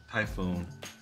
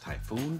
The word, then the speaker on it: Typhon: Now, I've heard people say it two different ways. I've heard it pronounced Typhoon, and I've heard it pronounced Typhon. I know it's spelled like Typhon, but I can't bring myself to use that in general conversation. So I'm calling it a Typhoon until somebody corrects me.